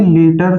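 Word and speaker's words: litre: एक चीज और मैं बता देता हूँ कि हिंदी में लीटर का प्रोनाउंसिएशन क्या होता है, लीटर। कि जिनकी लैंग्वेज ही इंग्लिश है, जिनकी जो इंग्लिश नेशन से आते हैं, वो क्या बोलते हैं, लेटर।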